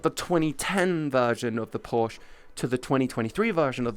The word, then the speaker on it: Porsche: called Porsche Get Wrecked that's still better than porch it's Porsche it's called a Porsche 911 or a Porsche Boxer it's not called a porser Americans call it Porsches cuz they have to pronounce every letter call it a porch now made a new